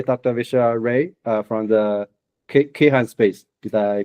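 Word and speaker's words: Kayhan: Visha Ray from the Keihan Space. Did I pronounce that correctly?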